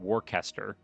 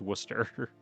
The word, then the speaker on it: Worcester: Worcester, I called it Warcaster cuz that's how it's spelled. But apparently you just don't pronounce any of the middle part and it's Worcester.